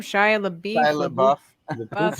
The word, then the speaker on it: Shia LaBeouf: Shia LaBeouf. Shia LaBeouf. Buff, Shia LaBeouf. Buff, beefy.